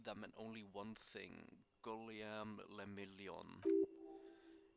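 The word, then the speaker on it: Guillaume Le Million: meant only one thing golem le million if it doesn't rhyme you're not pronouncing it right okay out of the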